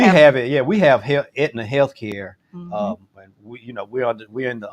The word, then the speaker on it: Aetna: It's spelled Aetna, but it's Aetna, the Aetna insurance company.